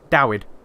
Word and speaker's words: Dawid: And it was David, but spelled with a W. Dawid.